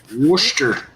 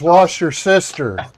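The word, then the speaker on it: Worcester: But if you look at it, it looks like Wordchester, but they put south in Wora. Yeah, that's uh that's how you're supposed to pronounce worester. Worster, which I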